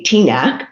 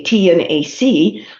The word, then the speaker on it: TNAC: There's no proper way to say it. You can say TNAC, or you can say T and AC, like we have our